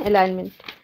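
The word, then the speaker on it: alignment: हैं इसको ठीक है नॉन एलाइनमेंट है ना जी इसमें साइलेंट रहेगा तो आगे देखें अगला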